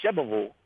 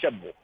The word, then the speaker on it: Shelbyville: on it man okay you've got too many syllables in there you say shelbyville that's one too many that's three it's got to be shabble it's like two points one more time let